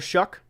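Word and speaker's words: Shough: Uh, don't mess with Tyler Shuck. Don't don't foul. Don't don't don't uh tough would rhyme with that.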